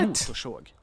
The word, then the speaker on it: motorsåg: And I say såg because I have the R and the S there, so it's a retroflex retroflex sound, and I talked about